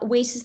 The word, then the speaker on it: WiCyS: regards to whis um first of all uh whis's the way that it's actually pronounced is uh meant to reference we cyber